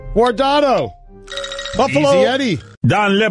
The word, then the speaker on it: Guardado: Eddie Guadardo. Easy, Eddie. Look at me now. I'm getting paper. You pronounced his name wrong. I did not. Guardado.